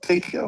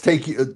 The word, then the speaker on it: Takeo: What you call him? Takeo? No, it's Takeo. I guess I said it wrong.